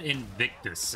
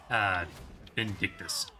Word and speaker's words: Vindictus: I'm pretty sure I had said Invictus instead of Vindictus. All I knew is that it had an extra syllable in it that sounded strange to me.